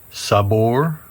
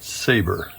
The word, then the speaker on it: Sabor: It is pronounced, not. Sabor, not saber.